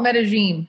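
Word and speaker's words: Medellín: So the locals call it Medellin.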